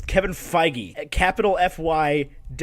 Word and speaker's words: Feige: out real quick okay this says it's Kevin Feige I mean I'm work I'm fine that's what wikipedia says Kevin Feige at capital FY - ji-hae I'm sitting over